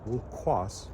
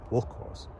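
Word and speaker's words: wĺ̥kʷos: is actually an adjective, wulkos, emphasis on the second syllable, means horrid.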